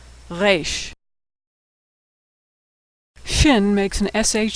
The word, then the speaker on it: Resh: Now most Americans pronounce it like the R in road, but Israelis pronounce it as more of a guttural sound. Resh.